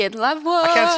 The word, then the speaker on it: La Voix: How do you say it in La Voix? Yeah, like that. Was that You're good? good. Yeah, la voix. Oh, yeah, that felt good. La Voix. Yeah, and then you can say it la voix.